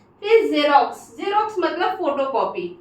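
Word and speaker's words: Xerox: एल O Xylo मतलब cast ठीक है फिर जेरोक्स जेरोक्स मतलब photocopy you know everyone known की जेरोक्स में फोटोकॉपी होता है स्पेलिंग होती है जेरोक्स की जड सॉरी एक्स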